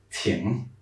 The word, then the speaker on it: 挺: If you remember the NG sound, it's like this very nasal N. Yeah, so. Ting. Ting. Yeah, it's like very much you're like blowing through your nose.